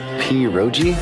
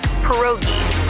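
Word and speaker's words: pierogi: Periro. Did I pronounce that right? It's pronounced perogi.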